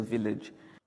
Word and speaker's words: village: the village Village. the village Not village.